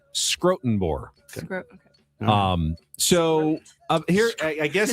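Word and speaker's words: Schrotenboer: Brent Scrotenbor used to write for the UT. That is how you pronounce What's his last name? Scrotenbor.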